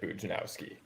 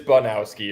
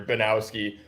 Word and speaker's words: Bujnowski: So yeah, the nickname Buj comes from everybody mispronouncing it Bujnowski. So it is Bunowski or Banowski, however, whatever is like simpler for people to say. Just no J in there.